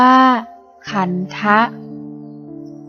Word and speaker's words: ขันธ์: ก็ คิด พุทโธ ขันธ์ ภาษา บาลี อ่าน ว่า ขันธะ ขันธ์ แปล ว่า ทรง